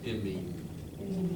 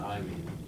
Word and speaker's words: imine: It's imine, not I mean. Imine. Imine. Okay? So we're going to look at imine formations. Okay? Here what we're going to do is get a look at an imine.